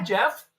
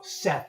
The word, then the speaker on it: Seth: And they go, oh, hi, Jeff. I'm like, no, Seth, and I have to spell it for them.